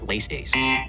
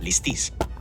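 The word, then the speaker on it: λῃστής: He's popularized the mispronunciation of the noun translated as bandit, saying it like leistes. Greeks today pronounce this word like listis. In Attic Greek, it may have sounded closer to leistes or leistes, but not leistes.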